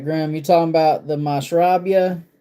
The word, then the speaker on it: Mashrabia: If you've not tried that Mashrabia, that is fire.